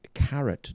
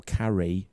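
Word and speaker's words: Caret: Right, as part of Linda Moulton Howe's presentation this year, the so-called Carrot drones, or Carret drones, which is spelled C-A-R-E-T drones.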